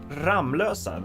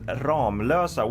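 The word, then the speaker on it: Ramlösa: you pronounce it ramusa if you did pronounce it ramlosa then you pronounce it correctly there's a lot of sweets who actually pronounce it R Losa which would make sense because there's only one M but it's actually pronounced Ram Losa as if it were two M's in there don't ask me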